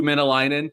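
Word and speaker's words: Mäenalanen: Yeah, well, when you have to research how to pronounce a guy's name, that usually means he's doing something right? So it is Saku Menelainen.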